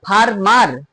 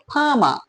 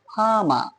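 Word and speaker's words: farmer: ফারমার ফারমার হলো না কেন ফামা দুটো আর আছে এখানে দেখো দুটো আরের কোন আরই উচ্চারণ হলো না কেন হলো না দেখো তৃতীয়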